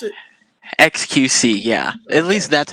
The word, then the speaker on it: xQc: how you pronounce it xqc yeah at least that's how i understand it right like just reading it phonetically as letters exit qc okay so i read